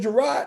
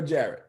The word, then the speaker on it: Jared: Is it Gerard or Jared? Jared. It's Jared, right?